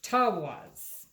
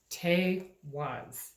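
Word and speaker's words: Teiwaz: It's Tawaz. No, it's Tewaz. Tewaz. All right.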